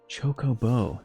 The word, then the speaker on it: Chocobo: Chocobo, the official pronunciation with latest voice titles.